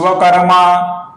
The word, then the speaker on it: विश्वकर्मा: अप्रमेयो ऋषिकेश पद्मनाभ मर प्रभु अप्रममेयो ऋषिकेश पद्मनाभो मर प्रभु आगे की पंक्ति है विश्वकर्मा मनुषष्टा फिर से श ये श है ये श है श क्लियर विश्व विश्वकर्मा मनुस्ता स्थवि ध्रुवा अब